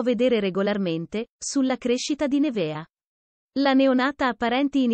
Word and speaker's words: Neveah: Alessia Macari e il marito Oliver Kragle hanno scelto di chiamare la loro primogenita Nevea perché è un nome particolare e internazionale.